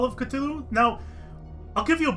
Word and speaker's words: Cthulhu: we go here see when I was growing up you pronounced it Cthulhu not Cthulhu the tulu is how low Kraft himself preferred it to be pronounced his well his I think what he said was the proper pronunciation can't be done by the human tongue and instead you should pronounce it either Kalulu or Cthulhu and he preferred Cthulhu or at least in